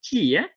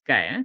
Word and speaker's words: chi: pronounce this is not Kia chy is not t it's not something out of kung fu movie no so it's pronounced Sky Chi is Kai so it's also known